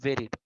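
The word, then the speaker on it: buried: graveyard is a place where dead bodies are বেরিড এই উচ্চারণটা ভিউরিড হবে না উচ্চারণটা হবে ভেরিড অর্থাৎ কবরস্থান হলো সেই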